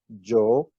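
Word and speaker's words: جو: So if you put vowel after the J sound, it becomes Jo.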